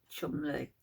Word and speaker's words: Cholmondeley: husband, David Rock Savage, the 7th Marquess of Chumley, which is spelled Cholmondeley.